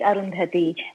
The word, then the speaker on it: Arundhati: Is this Arundhati? Did I pronounce it even close to correct? Oh, that is correct, Arundhati.